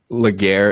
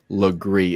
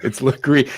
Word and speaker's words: Lagree: I just want to say, Laguerre is pronounced Lagree. It took me a full year to do that. I just want to put that out there. She's one of my favorites. It's Lagree, and you got to call her Legs.